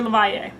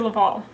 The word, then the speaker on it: LaValle: I kept saying Victor LaValle. I live in Texas and I was reading his last name with the Spanish double L pronunciation. That is not correct, it's Victor LaValle.